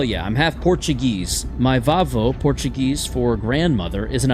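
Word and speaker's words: vavó: That's That's how I would pronounce that if I were like a middle-aged mom living in Wisconsin. Vavo. It's Volvo.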